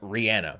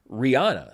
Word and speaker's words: Rihanna: me into a bit of a tailspin on Rihanna, because he kept talking about Rihanna. Rihanna is with us tonight. Rihanna got her first Oscar nomination. And I have only ever said, and quite frankly ever heard, Rihanna.